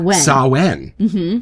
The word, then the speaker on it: Samhain: Shashank that's a little known fact uh it's pronounced um saen uh I'm of the firm belief that if that's how they wanted it pronounced then they spelled it wrong but it's okay s sounds Blue saen from Phoenix wow and you know what I